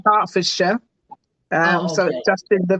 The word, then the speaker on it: Hertfordshire: a little giggle there because um you said hartfordshire um we say Harford um so just in the pronunciation and I actually retired in 2018 so